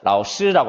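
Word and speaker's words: 老师: 라오시 중국어를 배우지 않아도 여러분 중학교 때 중국어 배운 사람들 중국어 선생님에게 복도에서 만나면 라오시라고 합니다. 그렇게 자연스럽게 나오는 거예요. 이걸 굳이 법칙을 뭐 공부를 해서 알아야지 그 발음이 나오는 게 아니죠.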